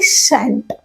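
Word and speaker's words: shan't: उसका जो प्रोनाउंसिएशन है वो है शैंट।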